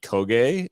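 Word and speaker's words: Køge: of Nordstrom's uh u19s in Denmark and HB kogay uh in Denmark um these are confirmed uh Danish pronunciations by the way yep 100 authentic authenticity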